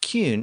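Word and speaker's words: cyn: Another common Old English suffix was kin, pronounced cune in Old English.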